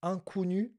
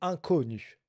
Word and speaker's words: inconnu: Et euh petite erreur de prononciation inconnu. Incnu alors que c'est inconnu coût.